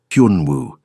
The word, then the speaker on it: Hyun Woo: "Hyun Woo." He said it slowly. "Hyun like Hun, but with a Y sound. Woo like woohoo.